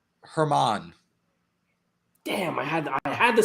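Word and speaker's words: Germán: Is it a Herman or German? Herman. Damn, I had the silent G and I mispronounced it.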